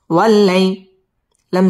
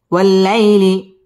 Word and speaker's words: والليل: سجا والليل إذا سجا ওয়াও ঠোঁট গোল করে উচ্চারণ করতে হবে ওয়াল্লা লাম তাসদীদ ওয়ালা